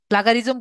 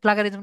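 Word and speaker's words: plagiarism: আমি কি বুঝতে পেরেছি এটা আমার সবসময় উচ্চারণ করতে সমস্যা হয় প্লাগারিজম বলি এটা প্লাজারিজম না প্লাজারিজম এটা আমার উচ্চারণে সমস্যা হয় প্লাজারিজম আর কি তো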